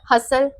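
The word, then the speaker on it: hustle: तो यहां पर और हसल इसको इसमें भी टी साइलेंट है इसको हम हस्टल हसल बोलते है हसल नेक्स्ट हो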